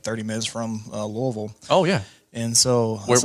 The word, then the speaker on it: Louisville: sorry no but Kentucky how do you say that again Lille Lille Lille you can call it Louisville no I would people I know not to say I know not to say Louisville but I'm like Louis Louisville